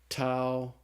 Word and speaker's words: tau: letter is tau and tau looks just like the English tea and it's pronounced like the English tea so the Tau is pronounced like the T in the word talk okay after the tau